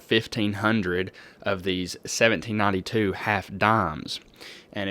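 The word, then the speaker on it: disme: of these 1792 half dimes. And it's worth knowing that in this year they were spelled D-I-S-M-E. We believe that it's still pronounced dime, but at the time there was an S in there.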